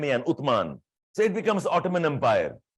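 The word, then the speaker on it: Uthman: and call that as ottoman like utman Arabic pronounced as u t h m a an utman so it becomes Ottoman Empire and Ottoman Empire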